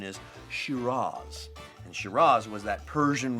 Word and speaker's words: Shiraz: Now, in Australia, they say Shiraz. Now, the classic pronunciation is Shiraz.